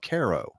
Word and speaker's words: Cairo: here in West Virginia spelled Cairo just like Cairo Egypt well the local people call it Caro well that's there what